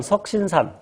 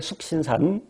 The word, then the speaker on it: 숙신산: 2번 석신산. 미국놈들은 그렇게 발음하겠지만 우리 편하게 숙신산.